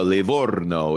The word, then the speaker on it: Livorno: And by the way, I'm so impressed that you can roll your R's like that, because you didn't learn that in Menlo. You didn't learn that in California. So the fact that you can go Livorno is just beautiful.